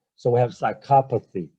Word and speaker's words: psychopathy: suffering so mind suffering again the stress is on the excuse me the stress is on the second syllable on the second syllable